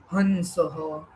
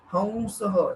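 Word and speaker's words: हंसः: अब इसका प्रोनाउंसिएशन बहुत लोग अलग अलग कर सकते हैं, हमसह, हंसह एंड ऑल, बट हमसह इट्स एक बेसिक फॉर्मेटिव है।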